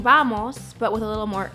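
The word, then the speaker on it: vamos: we have in English even though this word starts with a V it's going to sound really similar to the way that the B is pronounced in Spanish so watch How I say this Vos not Vos it's just a very slight difference this single word means let's go it's kind of like saying bamos but with a little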